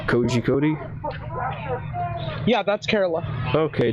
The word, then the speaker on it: Kozhikode: So this one is tricky, right? Because this is the case of, like, a syllable that just doesn't exist in English. Okay. Yeah. That's the ZH. But it's called, Korikut. Kori. It's a very weird sound on the ZH.